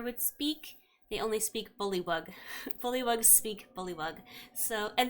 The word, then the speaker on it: bullywug: Some people say bullywog, but I see it's spelled with a W-U-G, so I usually say bullywug.